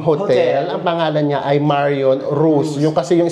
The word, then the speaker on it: Marion Roos: Ang pangalan niya ay Marion Rose. Yun kasi yung spelling niya R O S. Pero kapagka binabanggit pala siya, Marion Rose pa din.